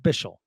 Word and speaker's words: Bichsel: Debate at the moment how should we pronounce bishell does he have a preference I love that we've seen from him this pre preseason thanks y'all so we've went over it Chris but it's still a great question and uh I think we're going with bishell so I think I